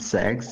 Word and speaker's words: CeX: I usually pronounce it CEX, although they pronounce it sex, so... and the reason I don't pronounce it like sex is because imagine just